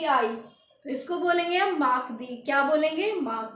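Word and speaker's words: mardi: लिखेंगे एम ए आर डी आई इसको बोलेंगे माक दी क्या बोलेंगे माक दी लेी माक दी ट्यूजडे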